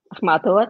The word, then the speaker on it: Akhmatova: As for Russian poets, you know, even recently I was reading, you're going to have to help me with pronunciations, Amira, Akhmatova. Akhmatova, that's right.